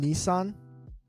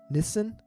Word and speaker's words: Nissan: We'll give them Nissan. Aussies mispronounced that. What do they say? Nissan? Yeah, I think being open-minded and like genuinely having conversations, open conversations is important without attacking. Nissan in Japan, we say Nissan.